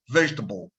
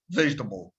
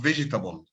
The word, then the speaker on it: vegetable: three syllables veg table can you see the syllable that we completely forget the e vegetable okay so pre-beat after me vegetable vegetable vegetable so it's not vegetable so please do not